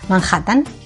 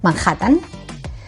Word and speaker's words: Manhattan: So, Manhattan, Manhattan. Naturally, that H right there, it turns into a J. Manhattan.